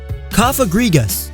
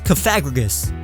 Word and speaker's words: Cofagrigus: It's definitely not Cofagrigus, although I must admit that that's how I used to pronounce it. It's a combination of coffin, egregious, and sarcophagus, but to be fair, this may be the hardest Pokemon to pronounce.